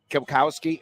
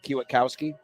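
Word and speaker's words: Kwiatkowski: Kyle flood defensive coordinator Pete kilkowski I think it's pronounced kiwatkowski and Quinn yours Texas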